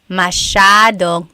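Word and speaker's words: masyado: do you pronounce masad mashad means a lot so the s y a is a shaa sound masad yep EJ said miamii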